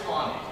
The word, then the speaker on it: Taney: Roger Tawney is how you pronounce it. In Maryland they have Taneytown Road, it goes down from Gettysburg. It's spelled Taney, like he said, T-A-N-E-Y, but Roger Tawney was Chief Justice of the United States from